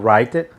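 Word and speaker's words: Writer: dentro do linux a gente tem também o ray ter a pronúncia dele é essa ela vai ter tem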